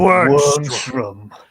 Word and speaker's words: Wormstrom: You have to say it like that, too. Like, Wormstrom.